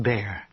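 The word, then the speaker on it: Baer: real name Bess best what best bear spell it b a e r really really for now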